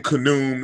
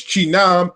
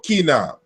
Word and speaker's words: Khnum: So we can say that saying Khnum is probably not the right pronunciation. But if we go to the African groups who are actually the descendants of the ancient Egyptians, they give us the correct pronunciation. It's Chinam or Kinam, to mold with clay, to join with together. And so Chinam or Chiname, the molder, that's how you would pronounce so-called Khnum.